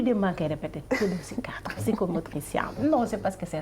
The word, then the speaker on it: psychomotricien: démb si guddi maa ngi jàng ni ñuy prononcer psychomotricien. noonu la psychomotricien voilà di en même temps donc interne des